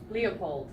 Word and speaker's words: LEOPLD: Leopold. Yeah, so it looks like Leopold, but we tried to copy the weekend, so you pronounce it in the same way, but you cross off one of the letters.